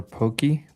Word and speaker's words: poke: So, hey, what is um poke or pokey? Poke pocus. Pokemon like bowls. Mhm. How do you pronounce it? Pokey. It is pokey.